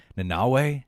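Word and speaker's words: Nanaue: How do you pronounce that? Nanawe? Nanawe. God, I always forget it. Nanawe?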